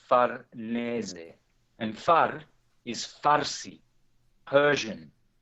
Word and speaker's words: Farnese: I think in English they tend to say Farnese, but in Italian it's Farnese.